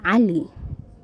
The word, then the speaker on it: Cali: So our first person is Ali. It's written like this in Somali. The A is pronounced, the C is pronounced as A.